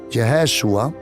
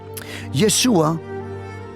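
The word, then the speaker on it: ישוע: su nombre yeshua en hebreo o mejor dicho yeshua porque así se pronuncia yeshua es un diminutivo creo que se dice en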